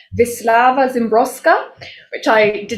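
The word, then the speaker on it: Wisława Szymborska: poet who i've recently discovered her name is pronounced vislava zimbroska which i did not know before because i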